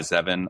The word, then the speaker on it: Zevin: Mark Typton and uh Eli Zean. I hope I pronounced your name right.